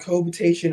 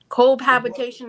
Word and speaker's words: cohabitation: called what is it it's called citation agreement citation it's cohabitation cohabitation agreement you're saying it wrong then say it out